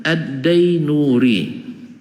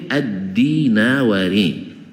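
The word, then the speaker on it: ad-Dinawari: sama dengan Addainuri mana ketemu Pak Zainuri katanya aslinya itu addinawari jauh badanya tulisan sama dibaca oleh guru-guru kami dulu Addainuri ya ada salah seorang udaba namanya Addinawari dibaca Dain Nururi e karena lama kitabnya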